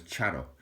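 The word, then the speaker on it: Txaro: And Charo is spelt T-X-A-R-O.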